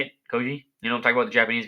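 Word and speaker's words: Kyoji: That's how you say it, Koji.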